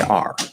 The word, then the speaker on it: our: time we don't say hour we say r it's pronounced r it's just the ah the r colored ah vowel okay r um now